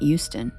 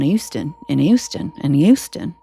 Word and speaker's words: Houston: to me is that no one in Houston pronounces H's, and they don't realize it. And they're like, yes, we do. I'm like, you literally call it Houston. Sounds like you're saying a Y.